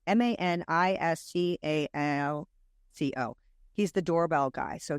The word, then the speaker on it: Maniscalco: So Sebastian Manic, I never say his name right. It's Maniscalco.